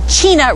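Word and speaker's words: Chena: actually standing on the the China River rhymes with uh Tina behind us so I'll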